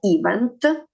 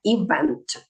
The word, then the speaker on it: event: Запам'ятовуємо event. Не event, а event. Наголос на другий склад.